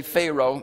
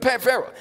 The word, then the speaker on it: Pharaoh: Some say Pharaoh. It can be pronounced both ways.